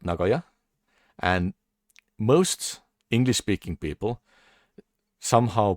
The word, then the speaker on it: Nagoya: Because yeah, Nagoya or Nagoya is like very different. Because Japanese usually keep all the sounds same length.